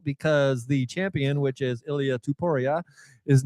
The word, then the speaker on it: Ilia Topuria: Yeah, that guy, Ilia Topuria.